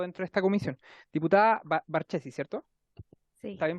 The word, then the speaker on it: Barchesi: Diputada Barchesi, ¿cierto? Sí. ¿Está bien pronunciado? Barquiesi.